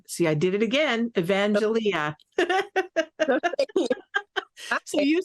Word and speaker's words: Evangelia: say your name um in Greek it's evangelia in English it's evangelia okay all right so